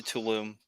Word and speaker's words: Tulum: I've been to Tulum.